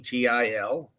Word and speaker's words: Heil: I think they pronounce it Heil. It's Heil.